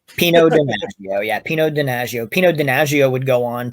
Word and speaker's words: Pino Donaggio: the music is, and I always pronounce this name wrong, Pino Donaggio. Pino Donaggio. Wow, did I get that wrong? Pino Donaggio, yeah, Pino Donaggio.